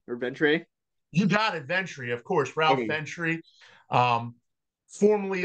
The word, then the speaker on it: Ventre: So did I pronounce it right? Ventre or Ventre? You got it, Ventre.